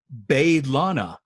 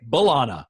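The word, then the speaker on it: B'Elanna: introduces herself to kim she pronounces it lana because the rest of the show we say bolana right we don't really say bae lana but she says and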